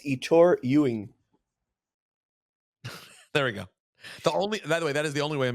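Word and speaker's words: Ettore Ewen: E's full name again say it properly it's Itor Ying there we go the only by the way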